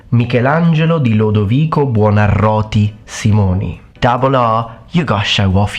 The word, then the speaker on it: Michelangelo: a handful but that's how you're supposed to pronounce it full name mikelangelo Simon you got show off your rolling of